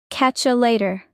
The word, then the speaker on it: catch you later: Natural: catch ya later. That's how natives say it fast. Pronunciation tip: the U becomes ya. Catch ya later.